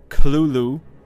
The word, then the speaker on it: Cthulhu: a note on pronunciation Lovecraft himself gave several different pronunciations of the creatures name throughout his life including Kalulu with a heavy guttural first syllable the most common pronunciation are vers Cthulhu popularized much later after Lovecraft's and death the truth of the